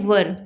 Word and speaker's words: were: तो first of ऑल मैं बता दूं कि इसे बहुत लोग वेयर पढ़ते हैं, लेकिन ये इसकी करेक्ट प्रोनाउंसिएशन नहीं होती है गाइज। इसे हम लोग वर पढ़ते हैं, WERE वर, और वेयर अलग होता है, वर अलग होता है।